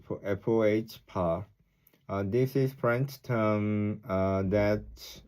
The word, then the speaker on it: faux: They call these mistakes uh, faux pas, pronounced FOH.